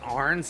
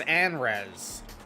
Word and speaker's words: Anrez: It's not Arns, it's Anrez.